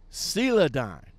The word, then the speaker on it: Celadon: Celadon. I pronounced it right this time, okay?